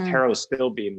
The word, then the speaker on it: pterostilbene: And then this pterostilbene, which is similar, it's spelled with a P. It's not spelled the way it sounds.